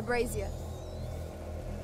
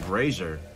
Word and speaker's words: brazier: right i'll cover you with the brazier that's how you pronounce it i've been saying brazier i'm putting my life